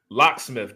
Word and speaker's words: Locksmith: locksmith, just like a locksmith that would put a new lock on your door.